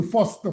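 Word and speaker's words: Faust: C'est-à-dire ceux qui ont souffrent du syndrome de Foste. Foste s'écrit F a U S t.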